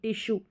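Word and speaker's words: tissue: sugar हो गया और टिश्यू हो गया अब इसको टिशू नहीं पढ़ेंगे टिश्यू तो इस तरीके से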